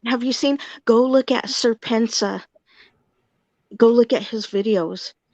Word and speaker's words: Serpentza: But Have you seen, go look at Serpensa. Go look at his videos. so It's spelled, yeah, it's spelled SERPENTZA, and go look